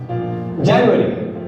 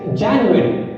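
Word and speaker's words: January: जनवरी हम बोलते हैं जनवरी, जो गलत है। The correct pronunciation is जनवरी।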